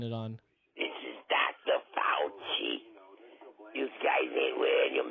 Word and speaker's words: Fauci: is i keep forgetting it's it's fouchy but i keep saying faucio marks i like that